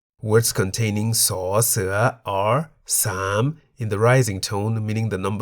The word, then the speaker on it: สาม: Why the rising tone? Well, the single syllable in the word sam is a live syllable because it has a sonorant final consonant ma.